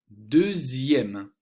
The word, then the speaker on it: deuxième: Dans les mots de la deuxième colonne, la lettre X va se prononcer Z, Z, comme deuxième, sixième.